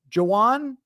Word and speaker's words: Juwan: discussion with Juwan Williams also confirmed that it is Juwan in the same way that you would say like Juwan Howard pronunciation Juwan Williams He